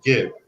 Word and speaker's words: Gib: Keith says hard G Gib, as in Debbie Gibson.